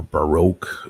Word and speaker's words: Baroque: anything from wakan yeah any Barack music for E wow or Baroque as the Americans say so any B hey